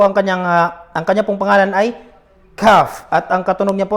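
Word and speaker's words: كاف: So ito po ang kanya pong pangalan ay calf.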